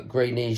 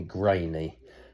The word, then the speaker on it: Greeny: aching limbs today uh when she heard my name uh greeny she immediately is a kiwi mispronounced it and she now calls me grainy um so I hope